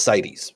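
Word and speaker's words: CITES: successful at protecting species and then there's cities that's how you pronounce this one cities okay i had to look it up on google because i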